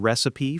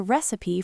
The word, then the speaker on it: recipe: you have a good recipe for banana bread?" Or you can say, "I followed a recipe from the internet." Be careful with the pronunciation. We say recipe with three syllables.